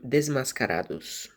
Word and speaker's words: Desmascarados: um with the name Desmascarados. That would translate to something like um unmasked, but with a little uh with a Latin-ish uh pronunciation cuz the the word for unmasked is desmascarado in Portuguese.